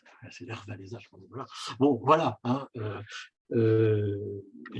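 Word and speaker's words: Lech Wałęsa: premier président qui était, alors je prononce à la polonaise, c'est Lech Walesa, nous en français on dit Lech Walesa, c'est Lech Walesa, voilà.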